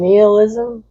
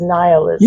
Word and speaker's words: nihilism: mention that I was unsure of the pronunciation of nihilism because I'm used to saying neilism and so I was happy to be corrected and it's nihilism.